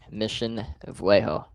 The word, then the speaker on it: Mission Viejo: Mission Viejo.